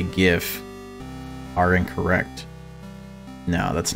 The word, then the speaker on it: GIF: no that's not true it's actually gif you want to know how i know it stands for like graphical interface format or something like that and graphical i mean you wouldn't pronounce it graphical right so i just eviscerated everybody who believes it's jif dude where is his